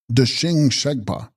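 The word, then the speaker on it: Deshin Shegpa: Text, Debshing Shegspa, pronounced Deshing Shegpa, Sanskrit Tathagata, meaning he who hath gone that same way, i.e.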